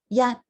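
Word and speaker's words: 一: And so if you go down to the second one, which is actually 1, which is yat, right? Yat, you'll notice it's spelled with the Y-A-T, with that high tone mark.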